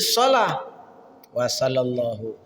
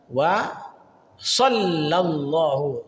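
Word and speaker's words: صلى الله: sering sekali terjadi kesalahannya ya yang benar wa Shallallahu shalla pakai tasdid Sallallahu seperti itu baik jangan SH wasa wasallallahu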